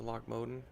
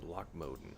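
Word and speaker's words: Loch Modan: I need a ride to Lochmoden. Be good. I really feel like that's the proper pronunciation. Lochmoden. It just sounds more Scottish than Lochmodan.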